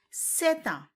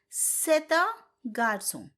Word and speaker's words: c'est un: But when I pronounce the sentence, I said c'est un. The reason behind this is the first word ends with a consonant, next word starts with a vowel. So in French, you have to pronounce it together.